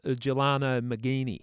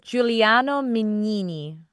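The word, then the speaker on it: Giuliano Mignini: with the prosecutor uh Gelano Mcini now I spelled that out phonetically and tried to pronounce it that way it's Juliano Minini Juliano Mini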